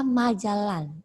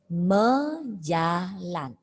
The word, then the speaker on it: majalan: Jangan dibaca majalan, tapi mejalan. Awalan ma itu dibaca me, tapi tulisannya tetap ma. Mejalan.